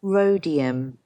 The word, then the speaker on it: rhodium: me what it is rhodium that's correct don't pronounce the h now we've got phosphorus